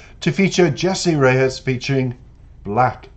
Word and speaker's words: 6LACK: Now, he is referred to as the proper pronunciation, Black, by the way, not Six Lack, despite what your brain keeps trying to tell you about the name.